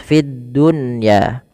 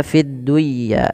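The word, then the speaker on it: في الدنيا: dijelas dengan baca jelas Fiddunya tidak dibaca fiduya tapi fiddun ya kemudian khizyahum khizum masukkan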